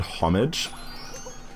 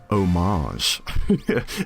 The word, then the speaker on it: homage: is uh the word homage it's so common people to go homage and it's just not a French word it's an English word why are you pronouncing it French it should be pronounced homage and it does sound